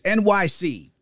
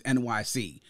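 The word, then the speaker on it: Enyce: to be pronounced because it's supposed to be a phonetic spelling of NYC New York City but as it was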